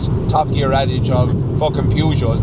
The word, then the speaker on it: Peugeot: I think Peugeot is the French way of saying it. I think that's the French pronunciation, and then obviously Jeremy Clarkson calls it like a Peugeot, yeah.